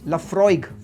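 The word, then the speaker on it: Laphroaig: इट hi London park सातवां जो काफी गलती करते हैं इट्स लफ्रोइग फ्रॉइग याद करिए एफ आर ओ वाई जी फ्रॉइग लफ्रोइग eighth is बालवेनी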